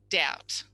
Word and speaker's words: doubt: So what have we got? D, ow, t. 3 phonemes.